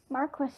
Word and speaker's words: Marquis: Marquis. This That's how you was a pronounce fancy Marquis, name or that that Puss word.